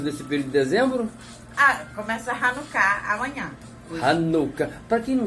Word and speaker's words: Hanukkah: Começa Hanukkah amanhã. Hanukkah. Para quem não sabe o que é Hanukkah? A pronúncia é Hanukkah e a gente fala Hanukkah, né?